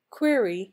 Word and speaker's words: query: marriage foliage Mirage age query does not rhyme with fairy Nordisk Yuri sound like